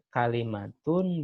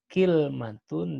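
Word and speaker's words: كلمة: Karena untuk pengucapan kata kalimatun ya itu ada 3 bahasa, ada 3 penyebutan. Pengucapan kalimah itu bisa kalimatun, bisa kilmatun, dan bisa juga kalmatun.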